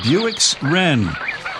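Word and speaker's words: Bewick's Wren: Apparently, it is the Buick's Ren. Uh, not spelled like the car, but B E W I C K.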